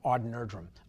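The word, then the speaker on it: Odd Nerdrum: that i saw of aud nerdrum aud nerdrum if you don't know who he is the name is spelled odd last name is nerdrum n-e-r-d-r-u-m he's they call him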